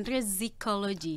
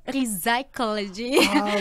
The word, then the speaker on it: Rizicology: Jadi actually namanya bukan Rizicology. Emang lumayan banyak yang salah menulis atau pronounce-nya, ya. Jadi ya. benarnya apa? Harusnya Rizicology. Itu Rizicology.